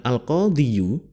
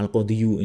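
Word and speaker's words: القاضي: Tetapi di dalam bahasa Arab ketika kita mengucapkan al-qadhiyu ini berat pengucapannya. Jadi dibuat simpel saja al-qadhi, daripada ngomong al-qadhiyu ini lidahnya kesleo susah ya.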